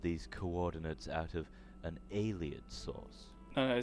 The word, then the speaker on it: Ayleid: I think I always pronounce it as I lied, like Ayleid, but I lied instead. So so I would mistake the I and the E. So it would be, in my head, it would be A-Y-L-I-E-D. And I'm like, that's not how you pronounce it.